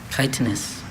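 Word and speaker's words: chitinous: Kitenus. May I have the part of speech? Adjective. Are there any alternate pronunciations? Just the one. Kitenus. Kitenus. C H I T I N O U S. Kitanis.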